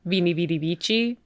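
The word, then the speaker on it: veni vidi vici: which people usually say is vini vidi vici.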